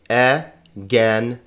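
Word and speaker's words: ἐγένετο: E-gen-e-ta. Egeneta. Notice the accent is over this syllable, so it's egeneta, not egeneta, not egeneta, not egeneta, but egeneta.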